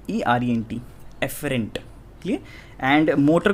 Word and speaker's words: afferent: एक और चीज़ है, सेंसरी को आप और क्या बोल सकते हो, एफरेंट, ठीक है। स्पेलिंग दिख रही है यहाँ पे लिख रखी है मैंने, ठीक है, AFFERENT, एफरेंट।